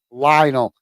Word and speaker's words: Lionel: It's just I forget how to pronounce his name, but I checked with him the other day, and it is Lionel.